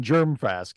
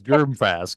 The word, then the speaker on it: Germfask: the show yeah no there's no hard G in germ fask it is germ fask this weekend I'm behind